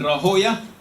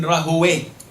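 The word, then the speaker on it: Rahawayh: Now Ishaq ibn Rahoya, some say his name differently. You can say Ishaq ibn Rahoya, and you can say Ishaq ibn Rahowe, like Sibawe or Siboya. It is pronounced differently. Jurors pronounce it differently to muhaddith, people of hadith.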